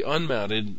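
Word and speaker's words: umount: the floppy can be unmounted this way notice the spelling of this command when people talk about it they usually call it unmount but it's spelled you mount exactly why it's spelled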